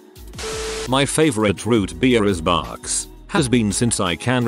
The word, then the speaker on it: Barq's: My favorite root beer is Barq's. Has been since I can remember. I pronounced it bugs because of the font until I was 22.